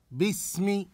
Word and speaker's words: باسم: نعم احسنتم باسم باسم نبهنا سابقا الى ان هذه الهمزه هذه الهمزه لا تنطق هذه الهمزه لا تنطق فنقول باسم باسم احسنتم اقراوا هذه الكلمه